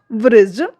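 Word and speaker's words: bridge: इसके रूल्स क्या कहते हैं देखिए, जब जी से ठीक पहले डी आता है तो डी का जो प्रोनाउंस है वो नहीं किया जाता है, डी का उच्चारण नहीं किया जाता है। एग्जाम्पल देखिए, ब्रिज, एज, नॉलेज, जज।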